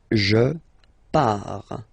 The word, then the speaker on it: pars: Okay, so the first form is je pars, so final S not pronounced, je pars.